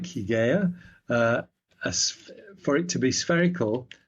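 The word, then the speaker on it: Hygiea: Hygeia is probably how it's pronounced. Depends on whether you lengthen your Y's or not in ancient Greek.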